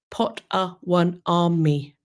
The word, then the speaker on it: Potawatomi: Paige points out that it is pronounced Potawatomi.